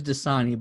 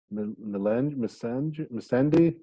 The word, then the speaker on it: Missandei: I want to say her name's Dasani, but I know that's water. No, it's Missandei.